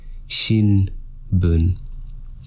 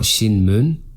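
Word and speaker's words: 新聞: So I've kind of given it away here, but the correct answer is shinbun. It's not shinmun, even if you think you hear an mu or an sound before that, it's shinbun.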